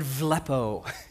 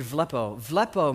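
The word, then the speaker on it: βλέπετε: word it's the word villopoto Greek I know you're like well has a B in the Greek B is pronounced v it's word villopoto means have vision way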